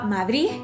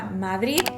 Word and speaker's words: Madrid: de ellos el hijo que pronunciaba madrid como con una h al final y también me aclararon algunos de ellos que dependía del contexto que ellos mismos notaban que a veces era una de abc será una zeta y a veces era nada que otros también me aclararon que aunque pronunciaba madrid con de al final era una de muy suave y que apenas era perceptible hay que tener muy